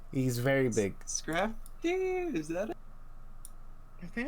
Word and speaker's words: Scrafty: I keep forgetting how to pronounce his name. He's very big. Scrafty? Is that it? I think it's Scrappy. Scrafty.